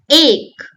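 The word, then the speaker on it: एक: We learned A, the sound is A, mouth is relaxed, and we say an example is A, ache.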